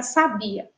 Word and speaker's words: sabia: tônica é lá agora a gente vai para sabia sabia sabia então a gente já identifica aí que a sílaba tônica é a sílaba ba be bi e